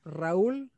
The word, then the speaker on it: Raúl: Claro, me pueden encontrar como Raúl, con acento en la U, así lo digo, así se escribe. Raúl es mi nombre.